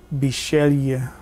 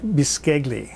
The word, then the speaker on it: Bisceglie: consonants in any word it looks like dis kegley but they pronounce it if I'm doing this correctly is Shelia it's a baked pasta